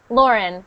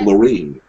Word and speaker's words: Lauren: Say my name. Lauren. Good. And not Lorraine. No, Lauren.